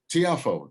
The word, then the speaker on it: Tiafoe: uh that's um guys i'm gonna say francis tiafoe tiafoe yeah there we go tiafoe and we were just talking about how to pronounce that might have pulled probably the biggest